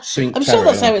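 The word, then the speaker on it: Cinque Terre: the watch calling Place sink Terry oh oh Terry sinky Terry sink Terry it's pronounced that's it oh honey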